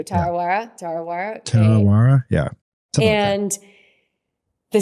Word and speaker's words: Tarawera: It was if I'm pronouncing this incorrectly, please help me. The Tarawera ultra marathon in New Zealand, 100K. Tarawera, yeah. Thank you, Tarawera.